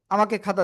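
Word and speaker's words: خ: উচ্চারণ করতে হয়, আর এটা হলো গলার শেষ ভাগ থেকে মোটা আওয়াজে আমরা উচ্চারণ করব, ঠিক আছে?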